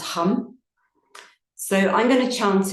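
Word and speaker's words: ham: So it's spelled H-A-M, but it's pronounced hum.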